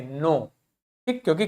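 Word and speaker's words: knack: बाद एन लिखा है तो के को प्रोनाउंस नहीं करेंगे क्या बोलेंगे नक क्या बोलेंगे नेक ठीक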